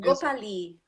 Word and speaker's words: Gopali: Mas tá certa a pronúncia? É Gopalha mesmo? Gopali. Gopali.